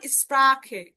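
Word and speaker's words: Sprache: খ এর মতো, যেমন স্প্রাখে, স্প্রাখে, কুখেন, কুখেন, দেখেন খ, এই যে সেহার আগে উ আছে, এই যে সেহার আগে আ আছে, যার কারণে তার উচ্চারণটা হলো খ এর মতো।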